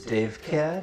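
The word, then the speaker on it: Davecat: what my name is Dave cat did he say his name was Dave and then follow by an animal I mean Dave cat like Thunder Cat but Dave all right threw me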